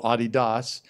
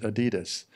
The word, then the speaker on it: Adidas: In fact, in Europe, it's called Adidas. In the United States and other parts of the world, it's pronounced Adidas.